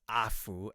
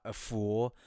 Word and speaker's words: Aful: I think AFU yes it's pronounced AFU and not a fool or awful Excel did a very